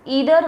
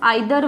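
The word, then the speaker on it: either: Next I am going to discuss ईदर versus नीदर, और यू can also pronounce आइदर versus नाइदर।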